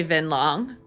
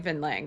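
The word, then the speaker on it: Vinh Lang: Vin, when introducing himself, he did say Vin Long, and this is an A, but everyone else is saying Vin Lang. So I think I was pronouncing it right, or everyone else is pronouncing it wrong.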